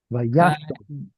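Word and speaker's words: וישב: Vayashov. Vayashov. Vayashov. Yeah, it's a closed, unstressed syllable. So it's a kamatz katan.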